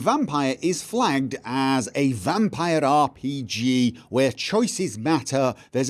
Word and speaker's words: Vampyr: I say vampire rhymes with tire, pyre, hire, not vampire rhymes with deer, peer, or over here, okay?